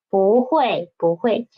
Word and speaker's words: 不会: When bu is before fourth tone syllable, it will change from first tone into second tone, right? For example, 不会.